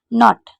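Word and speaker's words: knot: पे देख रहे हैं की एन ओ टी केनो टी यानी की के साइलेंट की के एंड एस आपने होगा तो के को नहीं पढ़ेंगे तो यहां पर सभी में केन साथ में है तो आपको के को नहीं पढ़ना है जैसे एन को ना पड़ा ओ को ओ पढ़ा टी को उठा पड़ा यानी की नॉट नॉट इसी तरीके से तीसरे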